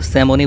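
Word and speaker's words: salmon: এই পুরো কানাডার মধ্যে যদিও স্যামনের বানানের মধ্যে এল রয়েছে কিন্তু ওরা এই এল উচ্চারণ করে না ওরা স্যামনই বলে থাকে এই স্যামন মাছটি খুবই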